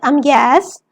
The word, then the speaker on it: ambience: People sometimes say that a restaurant has an atmosphere of ambience. To do so is redundant. Atmosphere and ambience mean the same thing. Ambience is the French word that can also be pronounced ambiance.